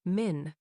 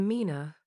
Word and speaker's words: مِنَ: Usually, this word is pronounced min, but because the next word starts with a silent letter, Arabic smoothly changes it to mina, so it flows naturally off the tongue without a clunky pause.